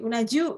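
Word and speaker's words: うな重: Jadi unaju ya. Ini bacanya ju desu ne.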